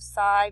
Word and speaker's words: psi: You can see this is the letter psi, or actually it's pronounced psi in the Greek, but it says it's often used to represent the study of psychology.